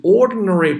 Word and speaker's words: ordinary: 有想象力的 imaginative sympathy，注意这个词啊，sympathy 后面咬住舌头就可以了。sympathy 指的是感同身受的啊，就是说作为一个历史学家，你必须能跟你过去的人有这种想象力的感同身受啊，你必须能想到，比如说生活在中世纪的一个农民，他们在想什么，对吧？With ordinary people，ordinary 普通的 ordinary people in the past，哎，这个 ordinary 的 d 呢，其实读的时候不用把它发得很重，不要读成 ordinary，不好听。Ordinary 这个 d 几乎听不见啊，把你的舌头顶在上颚。Ordinary people in